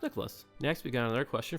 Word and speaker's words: Nicholas: He also asks, is it pronounced Nick-Olis or Nicholas? Well, it's pronounced Nicholas.